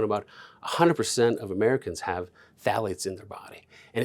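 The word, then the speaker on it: phthalates: And then the most important one I would say that everyone should know is called phalates. Phalates. Phalates. Spelled with a ph.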